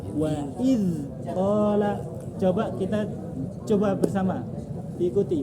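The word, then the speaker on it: وإذ قال: Wa idza qala Wa iz qala.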